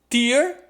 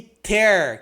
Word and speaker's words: tear: Tem a palavra a pronúncia de tear, são duas palavras diferentes, né? Com duas pronúncias diferentes. Tear, que é a lágrima, e ter, que é o verbo rasgar, né?